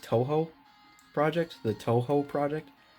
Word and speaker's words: Touhou: my other my hot water vlogs is apparently pronounced Touhou project the Touhou project T oh you H oh you I was pronouncing tofu Vegas is Toho so anyways that's what I'm